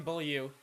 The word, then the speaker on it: Beaulieu: all and it's supposed he's not French bull yeah or something like that it's boy you know it isn't it it's Nathan bull you that's how you pronounce really just doesn't know